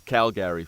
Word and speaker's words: Calgary: the chat room there make sure make sure you pronounce Calgary as Cal Gary so that's how I want Cal Gary Cal Gary yeah I